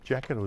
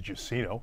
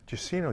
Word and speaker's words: Jacyno: Yeah, Jacyno is one of the ways people pronounce it. The way I pronounce it is Jacyno, but Jacyno is good. Jacyno. Yeah. Where's that name come from? Jacyno. Jacyno is a Polish name, and it's pronounced Jacyno.